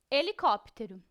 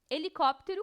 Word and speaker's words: helicóptero: início de uma palavra essa letra não é pronunciada falamos sempre o som somente da vogal que vem depois por exemplo helicóptero helicóptero começa com h e